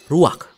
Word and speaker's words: ruach: Kata dalam bahasa Ibraninya adalah ruach. Ruach? Ya, benar. Tenggorokan kita harus benar-benar bersih di akhir pengucapan.